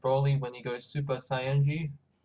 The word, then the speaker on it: Saiyan: when he goes Super Saiyan. That's how you say it. It's not Saiyan, it's Saiyan.